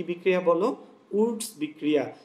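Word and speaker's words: Wurtz: Woods বিক্রিয়া। এটাকে অনেকে দেখবা মানে যারা একটু বিকৃত উচ্চারণ করেন তারা এটাকে উল্টোজ বলে, ঠিক আছে, কি বলে? উল্টোজ বিক্রিয়া। কিন্তু মনে রাখবা শুদ্ধটা হচ্ছে আসলে উডস বিক্রিয়া।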